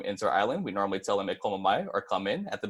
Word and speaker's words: e komo mai: So it's going to be e, komo, and then mai.